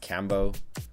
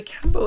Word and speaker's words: Kambô: I think it's pronounced Kambô. There's like a little accente on top of the A.